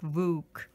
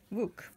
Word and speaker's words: Vuk: And so you pronounce it as V-O-O-K, like Vuk. Vuk.